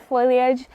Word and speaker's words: foliage: I always mispronounce foliage I always say foilage instead of foliage English is my second